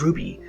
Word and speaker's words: RWBY: The title, RWBY, pronounced as Ruby, is a double acronym.